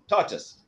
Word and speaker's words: tortoise: Tortoise.